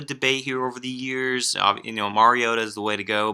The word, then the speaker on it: Mariota: How do you pronounce the last name? Prukop. Okay. We've endured, a Mariota debate here over the years. Mariota is the way to go, but I think